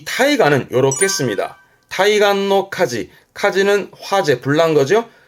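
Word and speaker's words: 対岸: 대안, 발음은 타이간, 타이간. 대안이니까 상대편, 맞은편 언덕, 맞은편 해안가를 말합니다. 이 타이간은 요렇게 씁니다. 타이간노 카지, 카지는 화재, 불난 거죠.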